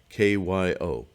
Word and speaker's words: Kyo: Kyo, Kyo, K-Y-O, Kyo. It's all one syllable. Say it all together.